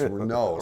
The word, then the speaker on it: Renault: and any everyone knows it's not renal it's Renault so either the AI